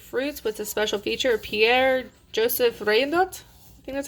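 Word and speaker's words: Pierre-Joseph Redouté: it's flowers and fruits with a special feature pierre-joseph rain nut that's how you say it special feature a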